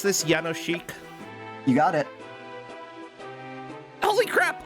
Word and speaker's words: Jánošík: yes okay in Polish you pronounce the J like a y and then the S like an s h and then the K